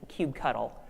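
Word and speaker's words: kubectl: name is Cuba cuddle and that's how you pronounce the command in my opinion cubed CTL is cube cuddle and most importantly why should you actually listen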